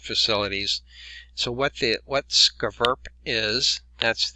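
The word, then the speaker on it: SCVURPPP: will inspect different facilities so what the what skaverp is that's how you pronounce their acronym it's a multi-jurisdictional cooperative effort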